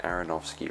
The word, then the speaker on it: Aronofsky: it's by Darren Arrow Darren Aronofsky right that's how to say his name and he's you know